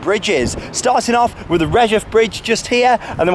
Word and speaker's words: Redheugh: However, I've done my research and yeah, it's definitely the Redheugh Bridge. That's how we're pronouncing the name of this one.